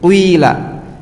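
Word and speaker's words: قيل: Jadi gini, qila. Jadi bibirnya membentuk dhammah. Kemudian diucapkan kasrah, qila gitu.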